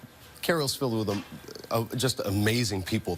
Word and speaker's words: Cairo: Cairo, not Cairo, Cairo. Spelled Cairo, but pronounced Cairo like the syrup.